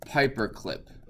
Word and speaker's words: Pyperclip: And what you're going to do is type in pip install Pyperclip. Like paper, but with an A.